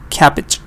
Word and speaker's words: cabbage: a carrot sure but sometimes it's e for example here capitch cabbage or wanted or this